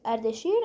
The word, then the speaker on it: Ardashir: Dude, this guy has some problem pronouncing our names, but it's better than all the other English speakers trying to pronounce our names, not gonna lie. This guy was Ardashir, and what he did,